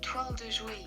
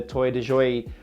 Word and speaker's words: Toile de Jouy: Toile de jouy. Toile de jouy, so forgive me if I pronounced that wrong, but that's the French sort